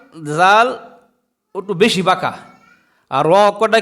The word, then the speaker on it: ر: কিরকম দেখেন দাল জাল একটু বেশি বাঁকা আর রকটা কি হালকা বাকা বলেন র এই অকটার নাম